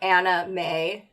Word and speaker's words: Anna May: Right, and not being like, hey guys, make sure that you pronounce her name Anna May, so that it doesn't sound like you're just saying anime.